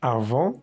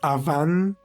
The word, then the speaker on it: avant: au four, la palabra avant tiene la vocal nasal AN. Vamos a decir en. No vamos a decir avant pronunciando la A y la N, no. Vocal nasal simplemente es un solo sonido.